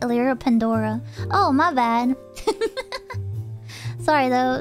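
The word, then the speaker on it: Elira Pendora: say this poem but you actually been pronouncing my name wrong it's actually pronounced elira pandora oh my bad sorry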